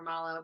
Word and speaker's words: Mallow: Malo yeah yeah it's we always get mow or Malo but malo's right yeah it was a